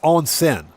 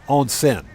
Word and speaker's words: onsen: no no Cody uh it's on sin it's basically if you're spelling it in ragi or romanized characters it's spelled o nsen on sin which is basically hot bath or a hot Spa yeah exactly kurou exactly